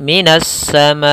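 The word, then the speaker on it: مِنَ السَّمَاءِ: Pada lafal as-sama di sini ada alif lam syamsiyah. Apa itu alif lam syamsiyah? Alif lam syamsiyah adalah alif dan lam, ya, huruf alif dan huruf lam yang bertemu setelahnya 14 huruf, yaitu selain abghi hajjaka wa khaf aqimah. Selain itu ada 14 huruf, salah satunya adalah sin, yang biasanya ditandai lamnya tidak dibaca, langsung kita membaca tasydid.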